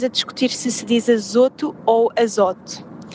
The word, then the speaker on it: azoto: Eh, neste caso, eh, eu, eu sempre disse azoto com o mais fechado, mas fui ver aos dicionários e às e aos recursos que apontam a forma de pronunciar. Já sabemos que isto, formas de pronunciar corretas é sempre muito discutível, mas todos indicam que é azoto.